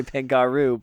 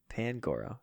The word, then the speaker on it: Pangoro: I want to say Pangaru, but there's no U in it. It's Big an O. Papa Panda. Pangaru. Goro has 4 arms, right? Goro. Pangoro.